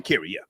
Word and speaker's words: Sha'Carri: Sha'Carri, yeah.